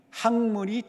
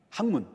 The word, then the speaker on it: 학문: 그러죠 뭐라고 말합니까 학문이 학문이 진리의 등불이다 말을 많이 들어보셨죠 학문 그냥 학문이 아니라 학문 예 발음 정확히 듭니다 학문 자 사람들은 학문이 뭐